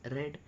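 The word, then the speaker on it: read: हैज़ आएगा शी हैस रेड री रेड रे रीड रेड रेड ठीक है स्पेलिंग तो सेम होती है लेकिन इसका प्रोनन्सिएशन वो थोड़ा सा डिफरेंट हो जाता है रीड रेड रेड रेड।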